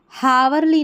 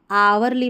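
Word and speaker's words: hourly: अब इसको हावरली नहीं आवरली पढ़ेंगे।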